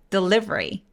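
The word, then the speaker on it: delivery: 거 같은데 그게 아니라 중간에 보이는 두 번째이 소리를 사라지게 만듭니다 그래서 vry를 한 번에 소리네요 그래서 강세가 이음절 아이에 와요 다시 한번 해 볼까요 the livery 이렇게요 외환으로 볼게요 이거는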